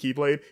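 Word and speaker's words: χ-blade: so it's not like X X but it's pronounced Keyblade it's confusing don't worry about I'm just letting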